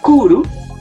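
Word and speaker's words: 来る: Aquí sería kuru.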